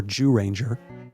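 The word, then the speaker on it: Jūranger: So, this was Kioru Senti Zoo Ranger or Jew Ranger as they pronounce it from 1992 using prehistoric creatures.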